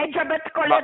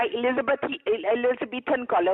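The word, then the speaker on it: Elizabethan collar: एलिजाबेथ कॉलर नहीं होता, एलिजाबेथन कॉलर होता है।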